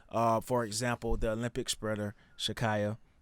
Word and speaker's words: Sha'Carri: so especially when you tie it into the sports world, for example, the Olympic sprinter Shakaya, right? Is that how you pronounce her name? Sha'Carri. Shakari, Yeah.